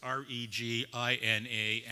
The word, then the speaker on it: Regina: inductee ladies and gentlemen despite the spelling of the name it's not pronounced as it's written so it's regi na and it's pronounced say